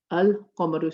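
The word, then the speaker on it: القَمَر: So you'll say ash-shamsu, al-qamaru. So if you notice, I've pronounced my lam here, I've not pronounced the lam here.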